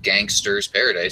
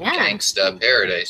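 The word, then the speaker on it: Gangsta's Paradise: The song wasn't called Gangster's Paradise. It was called Gangsta Paradise. I mean, if you're going to say it, you have to say it correctly.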